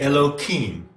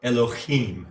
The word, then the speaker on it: Elohim: So we have Elyon, Jehovah, and then we have the Elohim, correct way to pronounce it, or Elohim, you see? Notice the accent.